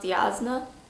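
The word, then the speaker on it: Jasnah: swear oh god also been told me it's pronounced yazna so i'll try to fix that going forward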